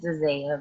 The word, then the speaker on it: Dazayia: look at you, I think, how do you pronounce that name? It's Dazayia, but it's okay. It's so easy to pronounce. It's that I that throws me off. Yeah, it's okay. The semester is over. So Dazayia, you go first, and then Zach, what do